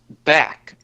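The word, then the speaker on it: bak: The Egyptians called this back, which is spelled B-A-K.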